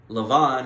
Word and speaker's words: Laban: you so so now laban lavon in the hebrew is how you pronounce it but we'll call him laban uh because that's how we're that's how we speak laban is a beneficiary